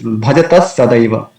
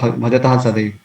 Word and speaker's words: bhajatas sadaiva: Here also we have come across this Bhajatas Sadaiva. So instead of Visarga, because Sa is following, so that is according to the rule, we can pronounce Sa here. So Bhajatas Sadaiva instead of Bhajatah Sadaiva.